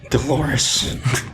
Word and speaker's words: Dolores: Dolores. Rhymes with clitoris.